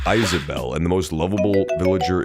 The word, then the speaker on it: Isabelle: It's pronounced Isabelle, and the most lovable villager is Wallace.